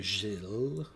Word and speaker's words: Gilles: Battle of the Gilles. That's how you say it in French. The S is silent.